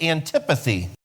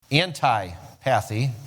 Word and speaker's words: antipathy: You'll get antipathy, anti-pathy, it's pronounced antipathy.